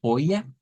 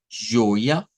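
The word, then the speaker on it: joia: Cuando decimos tudo joya, y nótese que esta J no suena a J, no es como decir joya, como lo diríamos nosotros, sino que es con este sonido, miren, j, j, joya, tudo joya.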